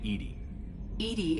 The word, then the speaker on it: EDI: why are you named edie is the phonetic pronunciation of edi that is an acronym